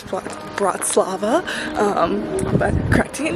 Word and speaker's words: Bratislava: Um, I've also realized I'm saying it wrong. It's not Bratavia. It is Bratz Slava. Um, but I'm correcting it now. But Bratz Lava, Slovakia.